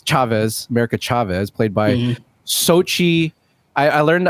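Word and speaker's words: Xochitl: about america chavez chavez america chavez played by sochi i i learned how to pronounce this yesterday gomez yeah what what a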